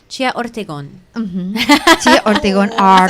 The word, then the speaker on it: Ortegon: I have to say it like with a Spanish. Chia Ortegon.